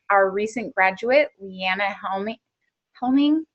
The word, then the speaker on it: Helming: Helming? Did I say it right? Yeah, Helming. Okay, I was going to put an extra L in it.